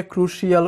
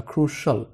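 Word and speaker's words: crucial: এখানে ক্রুশাল মানে কিন্তু গুরুত্বপূর্ণ, অনেকে এটাকে ক্রুশিয়াল উচ্চারণ করে, ক্রুশিয়াল না, ক্রুশাল, ক্রুশাল।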